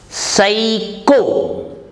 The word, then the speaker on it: psycho: channel rule number 21 p is silent in some words we write p but we don't pronounce it psycho p s y c